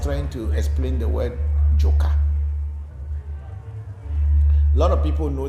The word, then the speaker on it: Jo: word Zo, which we in Ghana and Central Ewe we say Jo. That's spelled like J-O, Jo.